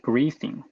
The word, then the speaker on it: Griffin: We named it Griffin, whose pronunciation is similar to grammar-free.